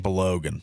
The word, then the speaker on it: Balogun: Balogun.